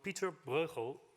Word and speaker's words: Pieter Bruegel: Ladies and gentlemen, in a recent book on Pieter Bruegel, as we pronounce the artist in Holland, Pieter Bruegel's painting of